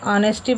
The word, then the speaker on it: honesty: यहाँ honesty नहीं पढ़ेंगे, बट क्या है, ये साइलेंट है, इसके आए तो ये क्या है, ऑनेस्टी बड़े रीड करेंगे एंड सिंसियरिटी।